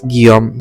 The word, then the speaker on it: Guillaume: the place is Place Guillaume II Pronounced as gee-YOHM Named after Grand Duke William II who rules Lux during the 19th century That's Grand Duke William's statue.